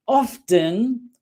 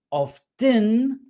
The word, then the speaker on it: often: Often se puede pronunciar de dos maneras. Se puede pronunciar de dos maneras. Pronunciando la T, often, o no pronunciando, o sin pronunciar la T. Often, often, often. Ambas formas son correctas y depende realmente del lugar donde viva o la educación de la persona.